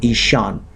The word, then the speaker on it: Ishan: Cone cone means corner and isan I'll spell it for you that's how it is said in Sanskrit i s h a n isan so the the northeast